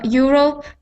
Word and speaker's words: Europe: me uh Europe Europe so getting that R sound so actually I think your pronunciation is very good Julia you're welcome um but get I get those R sounds instead of being like Europe I want it to sound like EUR see where my tongue is it is not anywhere close to my teeth it is far back